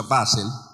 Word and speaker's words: Basel: Año 1897, en lo que hoy es, pues, Basilea, normalmente se pronuncia Basel, en Suiza, una ciudad que la gente en